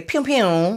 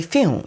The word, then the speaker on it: phew: Because I automatically want to say pew pew, but P-H is the sound, right? The F sound. And so it's probably fume.